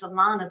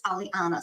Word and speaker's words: Aliana: to apologize to you I've been pronouncing your name as Alana but it's Aliana so I'm sorry about